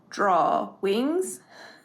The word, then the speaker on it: Drawings: is spelled drawings uh I think a lot of people pronounce it or it's supposed to be pronounced drawing wings so this is going